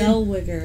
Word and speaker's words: Zellweger: Zellweger. Yeah, that's it. She's got a hard name to pronounce.